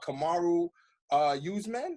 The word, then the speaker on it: Kamaru Usman: And he's supposed to be going for Kamaru Usman.